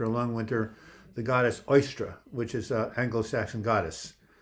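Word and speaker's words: Eostre: that happened okay see e-o-s-t-r-e i think that's how it is uh oyster oyster is how you pronounce it oyster and uh she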